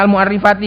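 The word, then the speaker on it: المعرِّفاتِ: Bacanya al mu'arrifati karena dia adalah na'at dari al sebagai mudhaf ilaih.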